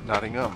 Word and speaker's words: Nottingham: Nottingham. Huh? Okay. It's a silent H. But not like herb. No, herb's got an H at the beginning, so you pronounce it.